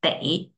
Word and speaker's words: 得: Then, so, 得的是的， This one, pronunciation is de.